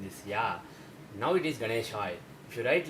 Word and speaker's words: Ganeshaya: If you take this mantra, the correct pronunciation is Om Ganeshaya Namah. Om Ganeshaya Namah. Some North Indians pronounce this Ganeshaya as Ganeshaya. Om Ganeshaya Namah, they say. But the thing is, in Sanskrit, if you want to say Ganeshaya, this is how you should write it.